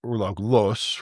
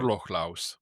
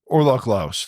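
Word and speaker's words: ørlöglauss: Is it to or Urlog-los? Right? I'll say it right. Urlog-laus. Urlog-laus. There we go.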